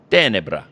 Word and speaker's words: Tenebra: reach out to the band and am i pronouncing it right is it tenebra it's uh it's more like tenebra yeah i apologize i know we're gonna have